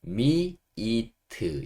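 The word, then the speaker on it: meat: 고기는 영어로 미라고 합니다 m a 미트 미트 이렇게 좀 짧게 하는게 아니고이가 조금 약간 길게 미이트 이렇게 미트미트이 소리를 조금 길게 끌어주시는 좋을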